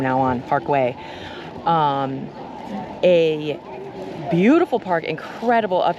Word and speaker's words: Güell: I've heard people say Güell. I've heard Way. Way, I believe, is the Catalonian pronunciation, so that's what we're going to go with from now on. Parkway.